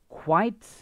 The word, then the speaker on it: quite: has two syllables and this one has one syllable okay listen to the pronunciation this one here quite and quiet quiet there's